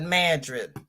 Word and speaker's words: Madrid: is it that's like New Madrid is spelled like Madrid but they call it Madrid thank you Cindy who